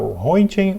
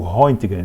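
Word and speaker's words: Röntgen: Luminosa que o honen estava hoen ou hgen são duas pronúncias possíveis aí o hgen estava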